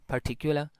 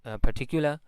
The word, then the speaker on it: particular: are usually pronounced as particular and perhaps. No R, because after R there is a consonant, so they do not pronounce R. So it will be particular, perhaps.